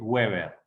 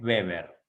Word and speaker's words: Weber: van a ver que se escribe con w y generalmente le webber pero como este señor era alemán no es webber sino que es beber ok max beber es